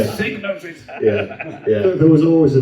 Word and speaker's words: Psygnosis: I have a memory of Blood Money and it's really annoying cuz it starts up and goes diagnosis prevents and that's not how you pronounce it. Signosis.